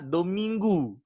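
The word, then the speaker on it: Domingo: Indonesia yang artinya adalah dominggu ya tulisannya dominggo tulisannya dominggo tapi dibacanya dominggu yang artinya hari Tuhan makanya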